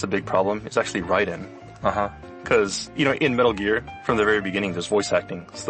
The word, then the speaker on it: Raiden: They would always say Ryu, because that's the way it would be pronounced. One that's a big problem is actually Raiden.